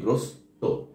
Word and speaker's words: গ্রস্ত: হবে এটি মাথায় রাখবেন পদের শেষে বার্নে সবসময় গ্রস্ত হবে উচ্চারণটা হবে কি গ্রস্ত যেমন বাধাগ্রস্ত ক্ষতিগ্রস্ত বিপদ গ্রস্ত ঠিক একইভাবে হতাশা গ্রস্ত আমরা অনেকেই এই জায়গাটায় আমরা এই গ্রস্থ ব্যবহার করি এটি আসলে ভুল হবে হচ্ছে দন্তা স যুক্ত